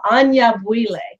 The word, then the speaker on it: Anyabwile: Anyabwile. There we go. Sometimes you Welcome. gotta do it more than once. I'm sorry? Sometimes you just gotta do it more than once. Yeah, there we go. Anyabwile is such a beautiful name.